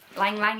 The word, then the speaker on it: Ylang Ylang: I need to learn how to pronounce this, don't I? Let's ask Google. Something more like Ylang Ylang, almost like... Okay, Ylang Ylang it is.